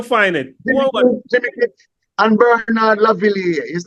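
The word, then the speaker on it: Bernard Lavilliers: Jimmy Cliff and Bernard Lavillier. His name is spelled Lavillers, but it's pronounced Bernard Lavillier.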